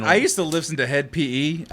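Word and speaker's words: Hed PE: used to listen to head pe that's how you say it it's like a metal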